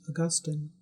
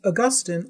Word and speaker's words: Augustine: Augustine. St. Augustine, or Augustine, you can pronounce it either way, was born to a well-to-do Roman family in North Africa.